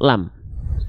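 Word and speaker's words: لام: Ya, sebelum kita masuk ke cara baca lam pada lafaz Allah, tentu kita harus tahu dulu ini namanya huruf apa. Ini namanya adalah huruf lam.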